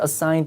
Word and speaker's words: assigned: 근데 DT 만나면 D 발음 하지 말아야죠. 그러니까 발음이 isn't it assigned to John? 예. Isn't it assigned to John? 그죠? Isn't it assigned to John? 할 때 발음이 여기 D 안 들리죠?